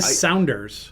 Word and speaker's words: Sounders: The Sounders. Yeah, it's spelled like Sounders.